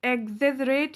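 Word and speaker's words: exaggerate: Synonyms यानी कि पर्यायवाची क्या है, वर्सन, बहुत खराब कर देना, एग्जेजरेट, ध्यान दीजिएगा प्रोनाउंसिएशन, एग्जेजरेट यानी कि किसी भी बात को बहुत बढ़ा चढ़ा कर बताना क्या कहलाता है, एग्जेजरेट कहलाता है।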